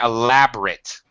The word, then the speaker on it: elaborate: Um uh Max one other thing elaborate. Okay. Uh so there elaborate elaborate elaborate uh stress on lab.